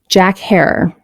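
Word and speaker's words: Jack Herer: and stimulates creative conversation Jack her pronounced like Terror it's Feelgood strain it's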